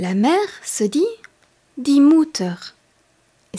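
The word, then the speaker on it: Mutter: mère la maman la mè se dit di mouteur et s'écrit m u de T e r comment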